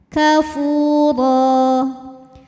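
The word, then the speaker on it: كَافُورًا: Huruf ro dibunyikan secara tafkhim karena harokatnya tanwin fathah, maka dibacanya tebal. Kafura. Apabila berhenti di ro, maka ini hukumnya adalah mad iwad, sebab ada harokat tanwin fathah yang diberhentikan. Cara bacanya dipanjangkan 2 harokat ro-nya ya, tanpa bunyi n.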